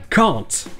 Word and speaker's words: can't: Un peu plus loin dans le film, il le prononce can't, avec le même son A que vous avez dans Bastard. Can't. Et c'est normal puisque c'est la prononciation en anglais britannique.